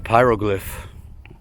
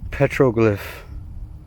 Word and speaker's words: petroglyph: And immediately we have a pyro glyph. Am I saying it right or am I messing it up again? Not pyro, petro. Petroglyph.